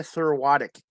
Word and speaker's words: Serwatuk: it okay yes um i didn't hear you pronounce it in the beginning let's see you try it again thorotic yeah you got it okay i just that's